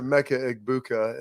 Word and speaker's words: Emeka Egbuka: And everybody puts like the G, it's a Emeka Egbuka, and the Egbuka, it's a Emeka Egbuka there.